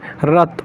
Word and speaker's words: wrath: और एक और बता दूं, जैसे रथ, रॉथ बोलते हैं इसको, वैसे एग्जैक्टली बोले तो स्पेलिंग याद रखिएगा, रॉथ की क्या होती है, WRATH, इसका मतलब होता है गुस्सा दिलाना।